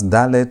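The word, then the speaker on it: דלת: don't have a desh pronounce dallet with a d sound and pronounce giml with a g sound with or without the desh.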